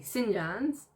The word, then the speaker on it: St. John's: John's, and that's a Newfoundland accent saying St. John's. They say St. John's, and it's spelled Jawns.